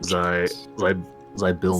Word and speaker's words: Zybilna: I can never pronounce this right, Zilbina? Zelina? Put it in that. Zybilna. Zelina Gomez.